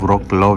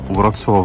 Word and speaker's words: Wrocław: वो व्रॉक्लाव लिखा है ना जो, हाँ उसको व्रॉक्सवाव प्रोनाउंस करते हैं।